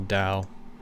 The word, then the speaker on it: Tao: C.S Lewis called it down the rest of my time is going to be kind of unpacking what I mean by that so what is the Dow Dao is spelled t-a-o uh in case you're